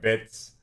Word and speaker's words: Bitzh: name to fluffy i to be honest it's like bits that's that's how i'm gonna pronounce it i know it's supposed to be but which obviously wouldn't allow that so what how did